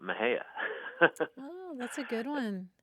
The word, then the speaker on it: Mexia: We have a funny town here called Mexia, and it's spelled Mexia. And I think if you're an out-of-towner or a Yankee, you might be tempted to say Mexia, right? Or some other. But townspeople call it Mexia.